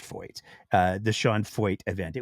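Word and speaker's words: Feucht: It's pronounced Foyt. It is pronounced Foyt.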